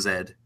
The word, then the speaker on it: zed: prom media um so in Canada the letter Z is pronounced Zed and my last name